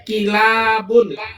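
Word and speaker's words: كلاب: Nggak paham dia bahwa kilab di sini ada pertambahan satu huruf alif. Jadi dibacanya kilabun.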